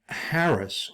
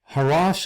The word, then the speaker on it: harass: number 10 haras and Harris or harus a word this is an English word that has at least three or four different pronunciations and so I use the standard American one of harass harass in Hebrew means to